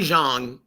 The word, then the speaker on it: Zhang: Well, it's Zhilei Zhang is actually how you pronounce his name. Zhilei Zhang, and for some reason, his management team, the Lane brothers, thought for some reason, I guess maybe because they reside and work out of New Jersey, they thought it rhymed because of the spelling with bang.